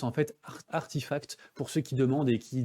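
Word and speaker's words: RTFKT: coup du studio web rtf cat et qu'on prononce en fait artifact pour ceux qui demander qui des fois ça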